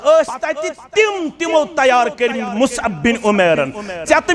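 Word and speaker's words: مصعب: Musab बिन उमैर अछ पढ़न Musab मगर प्रोनाउंसिएशन छ सही मुसअब बिन उमैर रदियल्लाहु तआला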